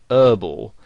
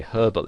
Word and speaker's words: herbal: they would pronounce it whereas in british english you would pronounce the h and you would say herbal essences and you might